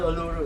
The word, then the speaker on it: Uluru: I don't know how to pronounce Uluru or Uluru. Uluru. Uluru. Uluru. Yeah, Uluru. but is that the right way to pronounce it? Uluru. How we pronounce it. Actually, it's different way of put people from Australia.